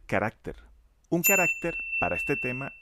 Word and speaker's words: carácter: tengan 15 o menos caracteres. En este apunte he utilizado la palabra "caracter" que está mal pronunciado, lo correcto es decir "carácter"; un carácter, para este